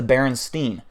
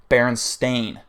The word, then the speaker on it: Berenstain: Pronounced the Berenstein. It was never pronounced Berenstein. It was never spelled that way. It was always pronounced and spelled Berenstain. Stain.